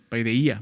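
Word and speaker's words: παιδεία: Paideia, ¿no? Paideia, más bien, se pronuncia así en griego.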